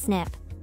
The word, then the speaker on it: SNP: single nucleotide polymorphism or SNP pronounced snip these are small changes